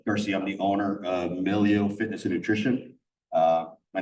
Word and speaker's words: MiLEO: and Milo where that came from it is pronounced Milo so if you can see the color scheme